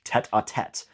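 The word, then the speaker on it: tête-à-tête: I only think of our approaching tetatate tonight at 8. Now, normally we would pronounce this tetat, but we change it to make it rhyme with eight.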